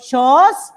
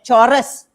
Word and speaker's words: chores: heard of the word shores c-h-o-r-e-s you don't pronounce it as chorus no it's not chorus it's short house shores